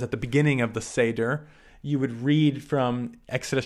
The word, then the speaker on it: Seder: On the first night and the last night, they have the Seder meal, or in Hebrew, it's Seder. That's how you pronounce it.